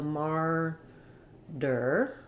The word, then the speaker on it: martyr: then we use murder in american english we use a flap there for that t murder even maybe just a full d sound i'll write it here with a d and then the second syllable is the unstressed er sound but it still has that tight back american r so mar der and what's also hard